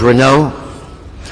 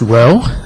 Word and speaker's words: Renault: Renault, Sylvia Jones. Morning, sir. It's actually pronounced Roe. Okay. But no one gets it right the first time.